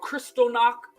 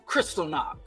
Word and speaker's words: Kristallnacht: There's this thing called Kristallnacht. I think I mispronounced it.